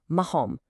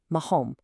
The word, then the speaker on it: marrom: And lastly, brown, marrom. Here that double R also triggers that deep guttural throat sound, marrom.